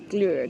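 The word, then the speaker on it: Glögg: to pronounce it and it's glur I think that's right she said it's an sound my pronunciation is awful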